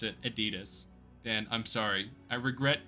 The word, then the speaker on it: Adidas: where they came from how do you pronounce Adidas Adidas we don't say Adidas some people might if they're uh wankers oh Grim wand IUN